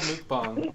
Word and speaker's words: mukbang: it's called mukbang. It's a South Korean thing. Mukbang. That's right. I was saying milk bong last time. Mook? Mook. Mook. Mook. Bong. Mukbang.